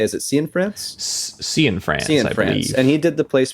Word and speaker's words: Cianfrance: Cianfrance.